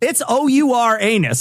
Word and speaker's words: Uranus: They actually changed the pronunciation of Uranus to make it this bad. Why would you go out of your way to do that? I have no idea. And it's OUR anus.